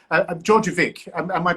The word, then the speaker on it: Djordjevic: pronouncing your your surname it's georgiovic and because you know in serbian the letter j it's a dj and i okay but you can write it as a d with a little line so